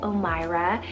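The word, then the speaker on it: Omayra: omyra spell o m a y r a omira it's arabic rooted meaning long life then i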